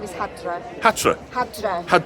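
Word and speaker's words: Hæddre: My Anglo-Saxon name is Hadra. Hatra. Hadra. H-Ash, which Yeah. is the A-E, back to back for the letter, and then double D-R-E, but you pronounce it Hadra.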